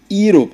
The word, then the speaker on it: Europe: U sound, not E sound as Europe, as some people will say. So some people will now say an Europe, because it's starting with E. The entire E-U is pronounced U. The E there is a silent word that has been eaten up by the U sound of that U that follows it.